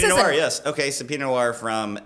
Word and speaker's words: Pinot Noir: Yeah, it's a Pinot Noir.